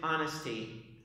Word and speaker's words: honesty: The other word is honesty. Honesty. H is not pronounced.